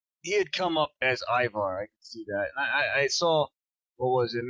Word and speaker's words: Ivar: get the names right because it's Ivar I don't know if it's Ivar or Ivar but it's it's spelt IV a R so it's Ivar characters from so they